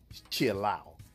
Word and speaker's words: Shiloh: It's the Shiloh from, you're supposed to pronounce it Chilow.